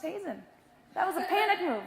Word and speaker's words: Heesen: My name's pronounced Heesen.